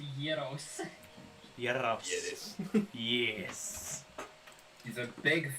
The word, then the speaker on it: gyros: It's pronounced gyro. Look at this flowing hair. It's like a sandwich, but the bread is like a little pocket. It's gyros.